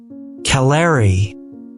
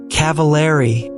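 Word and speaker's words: Cavilleri: Caller. I said for the first and only time. I got her damn name wrong. I was nervous. Cavaleri, said Jenny politely, correcting me.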